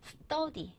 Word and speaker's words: study: 우리는 스터디 카페, 스터디 하는데 영어에서 트 발음 넣고요. 뜨라고 하는 거예요. 스터디.